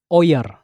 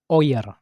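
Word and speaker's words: ihr: Yang pertama dia oer bacanya oer.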